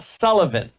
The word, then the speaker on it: Sileven: The pastor was Reverend Everett Sullivan. It's spelled Sileven.